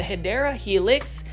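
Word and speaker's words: Hedera helix: you have plants like this hedra helix or what you call the hyera Helix that's the correct way to say it you already know there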